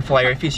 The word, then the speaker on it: Filet-O-Fish: like how it's spelt why is there a t in fellaio fish if you don't say the tea like can we order